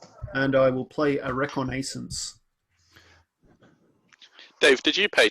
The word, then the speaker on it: reconnaissance: Shivan Reef, and I will play a Reconnaissance.